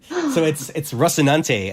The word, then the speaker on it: Rocinante: It's Rocinante, and it's the Rocinante. Oh my God, it's the spaceship in The Expanse, the books in the TV series.